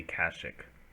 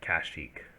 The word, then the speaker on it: Kashyyyk: is going to be kashic or kashyyyk however you decide to pronounce that i personally prefer kashyyyk moving to coordinates but it can be kasich i believe in the